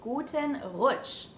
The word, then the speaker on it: Guten Rutsch: start into the new year is to say guten roach which literally means a good slide we use